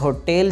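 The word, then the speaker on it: hotel: Next हमारे पास होटल जो लफ्ज़ है लोग उसे होटल बोलते हैं जो कि गलत है, तो ठीक प्रोनाउंसिएशन है होटेल, होटेल, होटेल।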